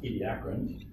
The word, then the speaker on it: Ediacaran: Akram or II do I've always been sayin Cameron but I think it's actually technically from pronounced Ediacaran so let's see if I